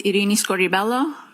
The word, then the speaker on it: Irini Scordi-Bello: My name is Iini Scorelloo. That's spelled I R I N I S C O R D I B E L L O.